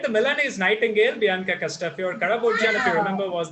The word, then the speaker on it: Castafiore: that he said it's Castafiore, not Castafiore. We say Castafiore. It's a Castafiore as well. I mean, Italian, I suppose they pronounce the vowel at the end.